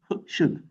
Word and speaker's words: should: Should. C'est comme dans hood.